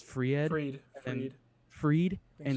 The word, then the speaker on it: Fried: They're starting pitching with is it Fried or I think it's Fried Freed. and Freed. Freed think and it's Fried. Soroka. Like first of all, you can't pronounce their names correctly, so you can't yell at them and make fun of them.